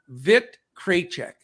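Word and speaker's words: Vít Krejčí: pronounce one of our listeners sent me a pronunciation vic kraychek there you go he's out so just wanted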